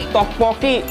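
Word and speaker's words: 떡볶이: nih B nah ini pembacaannya juga susah nih ini to apa Toi tokpoki kalau dibaca pakai bahasa Indonesia dibacanya tuh te Poki ini itu kayak katanya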